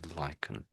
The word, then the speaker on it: lichen: So lychen there's no k there as such but there is a c and we tend to pronounce it as lychen.